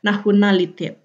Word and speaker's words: nationalitet: Tulisannya nationalitet, tapi dibacanya nationalitet.